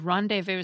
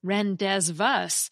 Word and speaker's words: rendezvous: the same word as rendez-vous that you'd read in books? The rendez and the vus have a silent Z and silent S, respectively, because that's how they're pronounced in French.